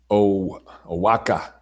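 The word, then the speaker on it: Oaxaca: Um, and you drive all the way from your Ozaka. Is that how you say it? Oaka. Aaka. The X is silent or the X is a W.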